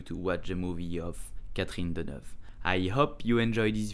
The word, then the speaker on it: Catherine Deneuve: You will pronounce it Catherine Deneuve. Catherine Deneuve. Catherine Deneuve.